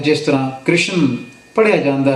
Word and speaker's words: कृष्ण: जिव शब्द है कृष्ण इस शब्द विच कका अखर द सहारी रारा नाल बोलनी बन है त शब्द बनदा है कृष्ण ज इस निज पालना ना कीती जावे ता इसका उच्चारण बनेगा कृषण जो के ठीक नहीं होवेगा गुरबाणी विचों कुछ प्रमाण